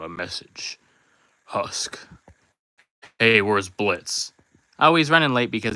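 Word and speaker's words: Blitzø: You could just say Blitz O, and you read it as Blitz.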